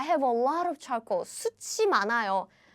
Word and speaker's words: 숯이: 숯이 많아요. So they have different meaning, but the pronunciation is exactly the same.